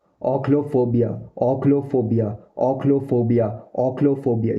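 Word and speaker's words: ochlophobia: ओक्लोफोबिया, ओक्लोफोबिया, ओक्लोफोबिया, ओक्लोफोबिया।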